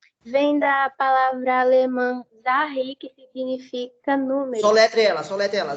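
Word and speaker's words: Zahl: porque Z vem da palavra alemã Zahi, que significa número. Soletre ela. Z... A H I. Fala Zahi, é isso? A pronúncia?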